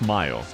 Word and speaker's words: Mio: No, that is actually pronounced Mayo. Like mayonnaise. So people call her Mayo.